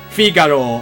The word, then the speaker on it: Figaro: And yes, Figaro is how you would pronounce it. I'm using the Western pronunciation for now, but I guess I could have said Figaro.